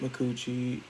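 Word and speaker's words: Micucci: I've had Sarah Strong, Kate McCucci. Yes, that is how her name is pronounced.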